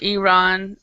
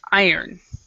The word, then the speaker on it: iron: it's not iron it's not iron or iran or iran it's iron okay all right uh jennifer